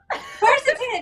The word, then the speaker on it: Quercetin: Let me just say it right. Quercetin. Am I getting it? Am I getting closer? Yeah, Cute. Quercetin. Quercetin, yes. I really have to visualize a corset every time I say it, and then I'll get there.